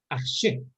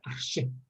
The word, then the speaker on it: Аржи: Арще произносится почему-то. Арще. Арчи. Арще, да. Коротко арще.